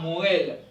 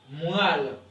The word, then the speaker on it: moelle: se prononce pas ok la moelle ce mot prononce comme ce mot pour nous on dit pas Morel ok ok on dit la moelle ok on dit pas la moelle ok ce mot ne se prononce pas Noël on dit moelle ok on dit baptême